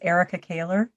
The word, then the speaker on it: Ericka Kahler: go ahead eric i'm sorry erica go and spell that real quick uh my name is erica kaler e-r-i-c-k-a and the last name is k-a-h-l-e-r very